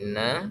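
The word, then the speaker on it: إنّا: Ya, di sini inna kita lihat semuanya, atau teman-teman coba buka mushafnya. Nah, di sini diperhatikan i, ya. Inna, jangan ada tamtid ya. Jadi kita memanjangkan in, baca i-nya panjang.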